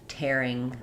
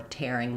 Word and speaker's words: tearing: And then we also have tearing with the air diphthong, as in tearing the paper or tearing myself away. So two different spellings, but two different meanings. So tearing, producing tears, tearing as in to tear. Different pronunciation there.